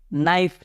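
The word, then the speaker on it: knife: के silent here knock उसी तरफ के यहां पर साइलेंट तो क्या पढ़ते हैं नाइफ चक्कू तो चक्कू को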